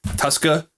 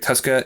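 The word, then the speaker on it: Tuszka: with taco charlton and derek uh zuska where he pronounced his name tusca tuscaloosa uh derek tuska if you watched those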